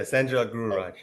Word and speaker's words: SanJog Gururaj: Yeah, SanJog Gururaj.